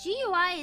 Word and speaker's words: GUI: Gooey. You like gooey? No, but GUI is most definitely supposed to be pronounced gui.